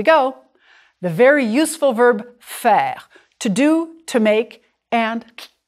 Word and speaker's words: faire: Faire is like the sound we made earlier for je préfère.